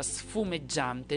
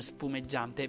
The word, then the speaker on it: sfumeggiante: dice Praticamente nel film perché tutti sbagliano pronuncia difatti sono tre anni che vado avanti a dirlo lo dirò in eterno praticamente The Mask dice la parola sfumeggiante non spumeggiante Per quale motivo perché